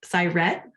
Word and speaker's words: Syrett: Syrett, I learned it rhymes with pirate, Syrett, Syrett, a